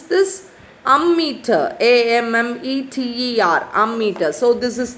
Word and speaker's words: ammeter: amount of electric charge ammeter how do you pronounce this ammeter a-m-m-e-t-e-r ammeter so this is the picture of